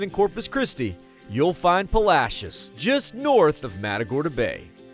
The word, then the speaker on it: Palacios: deep as the gulf itself making splashes in Palacios yes that is how you say that